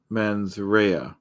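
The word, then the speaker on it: Mens Rea: appreciate Lura tip um so like Laura said it's pronounced men's Rea okay hey Mandy how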